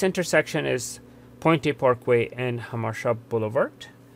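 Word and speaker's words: Jamacha: is pointy parkway and hamashab boulevard it's written jamaica oliver but pronounced hamasha bolovart and again the green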